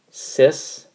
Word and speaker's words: cis: could go R and this is pronounced CIS stands for cosine imaginary sign I'm just writing in